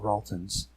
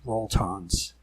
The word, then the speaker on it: roltons: bay the tour cons what we call raltons actually pronounce rolltons it was inspired by wonton soup in the shadow world